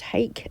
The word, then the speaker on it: hake: I use a Mottler brush, but you can use a Harkey brush, or it's pronounced Hake in its westernised form.